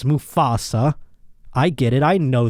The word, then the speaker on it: Mufasa: those of you who reminding me that it's musafa instead of mustafa i will not apologize i made i put one tea in there and everyone's up my ass you try talking for an hour and see how many things you up of course i know it's musafa and not mustafa or mufasa i'm saying it wrong